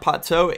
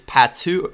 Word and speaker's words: Pato: It's not Pato, it's Patu, or Pato. But in Portuguese, I believe it's actually Patu is the way it's pronounced.